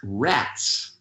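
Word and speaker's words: רץ: And then the word Resh Zadi pronounced rats, rats, just like in English, R-A-T-S, it means that which runs.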